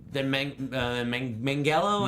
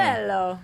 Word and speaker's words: Manganiello: bigger career than Manganiello. Manganiello. Manganiello. I've heard people pronounce it with the hard G too, mean- like it's Manganiello. I think. I don't know. I think it's Super. the soft Manganiello.